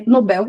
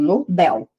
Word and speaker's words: Nobel: O correto na língua portuguesa é nobel ser um oxíono. A última mais forte. Então, nobel, ruim.